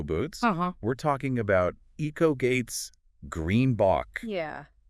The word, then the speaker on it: greenBOX: we're talking about eates Green Bo yeah pronounced like green box by the way exactly